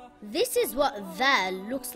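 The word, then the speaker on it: ذال: It is also not Zal with a Z sound.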